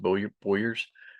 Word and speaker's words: bowyers: So it's pronounced bowyers, but these people make bows or they distribute